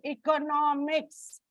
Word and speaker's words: economics: When it comes to economics, it changes before N.